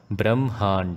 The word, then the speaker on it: ब्रह्मांड: Although this spelling is given as Brahmand, the pronunciation is to be made as Brahmand, as in the ha comes after the Brahm.